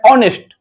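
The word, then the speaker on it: honest: हालांकि होनेस्ट ये नहीं है। इसको आज से आप लोग सही पढ़िए। होता है ऑनेस्ट ऑनेस्ट तो इसमें क्या आ रहा है इसमें अ आ रहा है पहले क्योंकि इसका उच्चारण अ से हो रहा है इसका साउंड का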